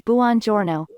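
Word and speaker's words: buongiorno: which way is correct the first way is bonjorno and the second way is bonjourno the correct way to say good morning in Italian is Buon Giorno okay so a little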